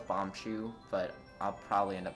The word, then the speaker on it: Bombchu: chew bowling alley uh it's another word i mispronounced it's how you call them bomb bomb cues as a kid uh and then i kind of switched to bomb but you bombachu so i know it's bombchu but i'll probably end